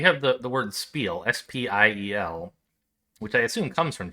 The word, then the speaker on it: Spiel: the the word spiel s-p-i-e-l which i assume comes from german because they have a word spelled the same but in german i believe it's pronounced spiel right with like that shh sound and so i don't